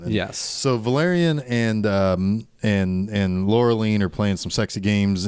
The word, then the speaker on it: Laureline: Laura. I'm going to be real pedantic about some of these pronunciations. Laureline.